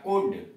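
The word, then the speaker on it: could: वुड, डब्ल्यू ओ यू एल डी, वुड, अब plus गो लगा दिए तो जाएगा वुड गो, जाएगा कुड।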